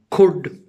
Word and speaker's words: could: In L is rendered silent in the words like could, should, would, etc.